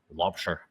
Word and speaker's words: Laubscher: I have a terrific guest with me today, Lobster. I'm sure I butchered your name just a little bit, but I've tried.